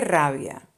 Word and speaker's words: rabia: Or you could also say qué rabia. It's spelled Rabia.